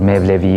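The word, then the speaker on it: Mevlevi: mawlana jalaluddin rumi which is known as the malaria or may levy a is the turkish pronunciation in present day Turkey is one of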